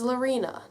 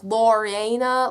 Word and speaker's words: Lorena: now my name is lorena now most people would think okay they also pronounce it wrong too and so they'll be like loriena lorena lorena i'm like that's not my name it's not my name